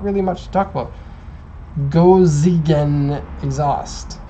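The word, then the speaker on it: 5Zigen: That's really how you pronounce it. Gojigen. It would be the actual pronunciation. I guess a lot of people are wondering if it's 5 Zeigen or 5 Zeigen. It's Gojigen in Japanese.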